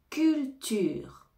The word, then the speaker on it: culture: correcte correct correct correct cULTURE CULTURE ici on ne prononce pas le E final cULTURE CULTURE on a